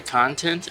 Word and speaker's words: content: work on some pronunciations today's word is content but it is also content so this is an instance when one word actually has two meanings and two pronunciations even though it's spelled